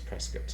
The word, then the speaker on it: Prescott: It's like when you go to Prescott. You say Prescott, right. Arizona, but they correct you right now. It's Prescott.